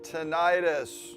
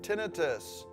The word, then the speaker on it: tinnitus: going to break down the term tinnitus. Or is it tinnitus? Or wait a minute, is it both? No worries. I'm going to explain why that matters later, but for now, we're going to pronounce it as tinnitus because the American Tinnitus